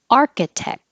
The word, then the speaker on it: architect: Architect. I don't say the K, but my tongue goes to the K position and then touches the top of my mouth completely to stop the airflow.